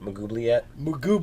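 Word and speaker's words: Maglubiyet: Someone want to pronounce the name so I don't butcher it? Mugubliet. Yeah. Mugubliet.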